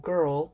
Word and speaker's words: Grrl: I have them all, and most of them are under Rebel Riot Girl, which is spelled GRRL.